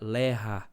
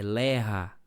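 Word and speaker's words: לאה: Tanto é, irmãos, que o nome Leia, né, no hebraico que que eu informei no começo do do encontro bíblico, que se pronuncia Lerra, né, a o o nome Lea, né, é Lerra, né?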